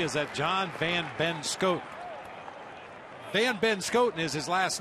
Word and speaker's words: Van Benschoten: Van Benschoten is his last name, but if you don't pronounce it the way it's supposed to be pronounced, it sounds like he has 3 first names and his last name is Schoten.